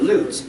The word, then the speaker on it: Lutz: let's tunnel but and bill king always pronounced it loots l-u-t-z but i don't really know the pronunciation it was a form